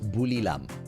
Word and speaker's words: Buriram: in a row yeah the ti is pronounced buriram as bulam right and at the moment